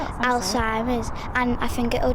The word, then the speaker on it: Alzheimer's: Alzheimer's.